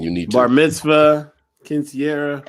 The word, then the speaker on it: quinceañera: Bar mitzvah, quinceañera. How you say the word? You said it right.